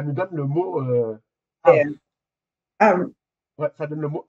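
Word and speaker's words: אב: Ça nous donne le mot euh AV. Ouais. Ça donne le mot AV. Voilà. Ça s'écrit AB mais ça se prononce AV.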